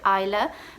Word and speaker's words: Isla: and it's with an a-i-l-a still the same pronunciation so isla but just with a different spelling so yeah